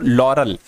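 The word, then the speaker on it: laurel: लिखा हुआ है साथियों लरल लरल नहीं होता है साथियों लॉरेल होता है कैसा क्या इसकी स्पेलिंग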